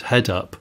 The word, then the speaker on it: head-up display: You're saying heads-up display. It's not heads-up, it's head-up.